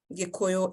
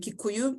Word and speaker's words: Gikuyu: I will interchange between the words Gikuyu and Kikuyu, because I am a native speaker of the language, and the pronunciation of the community and the language that is spoken by the community will vary. So when I am using my native language, it is Gikuyu, but when I'm using